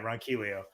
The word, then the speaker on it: Ronquillo: Always say his name like the Spanish way, but The rolled L, yeah. Yeah, Ronquillo.